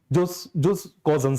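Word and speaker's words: jus cogens: this just cogence, or generally, it is being pronunciated as just cogence actually.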